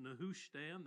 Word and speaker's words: Nehushtan: matching the Hebrew and the English it's commonly pronounced nushan that's how I'll be saying it we'll be